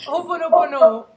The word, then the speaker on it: Ho'oponopono: How do you pronounce that? Ho'oponopono.